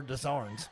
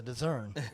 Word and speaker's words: Dezern: favorite people are from Clay County and they're Dezarns, but they spell it the same exact way. And they're like, he's not a Dezarn, he's a Dezern.